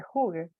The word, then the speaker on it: hygge: La palabra Heige, que se pronuncia realmente Hygge, es una palabra danesa que tiene que ver con esto que estoy diciendo.